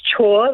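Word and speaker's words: Chhour: surname karen uh so it's pronounced chore like do your chores so karen shaw yep got it what's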